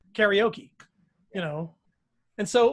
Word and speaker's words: karaoke: of everything that's new like karaoke it's a mispronunciation mispronunciation of japanese karaoke but in english we just say karaoke you know and so